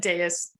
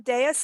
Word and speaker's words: Dais: baby won't be in the food am I pronouncing your last name correctly because I always give everyone new names and Deus yeah really close yeah Deus it's d-a-i-s-.com and again the book is called